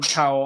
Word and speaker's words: Powell: I need uh John Powell or I you told me how to pronounce it. I did it wrong. Powell.